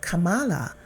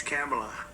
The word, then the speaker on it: Kamla: No, sir, it's a little different. It's Cam, right? Cam, as opposed to Calm.